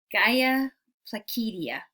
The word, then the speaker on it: Galla Placidia: at the Mausoleum of Galla Placidia i know i look at the pronunciation in terms of how it would be pronounced in Latin two l's make a y sound just like you know tortilla so yeah and then